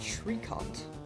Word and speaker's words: tricot: Pronounced Tricot.